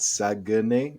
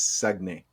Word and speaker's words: Saguenay: It's not Saguenay, it's Saguenay.